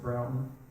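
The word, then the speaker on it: Broughton: partner at the time, a fellow named James Broutton. Some of you might know Broutton or Broton. And Kermit told me it's pronounced Broutton, excuse me.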